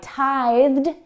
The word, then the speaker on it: tithe: Maybe verbs that end in the TH voiced sound, th, like tithe, or that end in